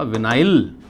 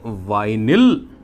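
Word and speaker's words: vinyl: चौथा वाइनिल halide, वाइनिल halide, विनाइल halide, pronunciation है English का विनाइल और हिंदी में वाइनिल।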